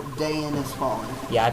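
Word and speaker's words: Daein: Oh, how Dayan has fallen. Yeah, I pronounce it Dayan.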